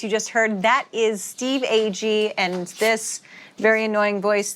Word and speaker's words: Steve Agee: And I'm James Gun, and I'm joined every episode by my co-host, Jennifer Holland and Steve Ag, who some people say Steve G. Wrong pronunciation.